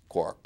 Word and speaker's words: quark: with it as well that would justify pronouncing it quark and so important the